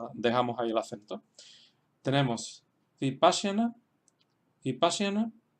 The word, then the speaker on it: Vipassana: En el caso de Vipassana, pues tenemos que detrás de pa, pues van dos consonantes seguidas, she, sha y ya. Tenemos la ligadura de sha y ya. Y por tanto esa sílaba es larga y ahí se queda el acento, Vipassana.